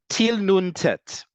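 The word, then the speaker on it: טיל נט: Til nun tet. This one we don't pronounce as a word. Instead, we spell it out.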